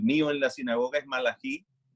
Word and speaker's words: Malachi: en la sinagoga es Malají y bien, aunque no voy a sinagoga askenazi, me aclaras la pronunciación que es Malachi, básicamente. O Malachi. Ben Yehuda o Malachi. Ese es básicamente.